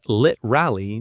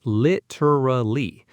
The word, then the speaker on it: literally: Especially literally often said as lit rally, dropping the middle syllable entirely in informal speech. The full pronunciation is literally. But literally is very common and natural in everyday conversation.